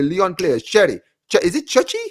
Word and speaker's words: Cherki: Is it Chechi? How do you pronounce his name? Cherki.